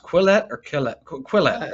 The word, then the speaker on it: Quillette: Is it pronounced Quillette or Quillette? Quillette, right?